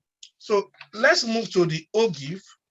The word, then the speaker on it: ogive: let's move to the o gif we call it og or some call it um or be pronounced by o o jeff so it's more or